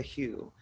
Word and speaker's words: HU: And their main spiritual practice is doing something called singing the Hue. And it's spelled H-U, but it's pronounced like the word hue, like the color hue.